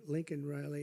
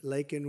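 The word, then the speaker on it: Laken Riley: and Riley you know Laken very well now and after months of prodding him Biden couldn't pronounce her name he said uh he said Lincoln Lincoln Riley and Lincoln Riley was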